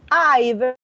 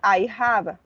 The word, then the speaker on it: I've: much student please pay attention to the the pronunciation i've is not i have i this contraction yes of i have the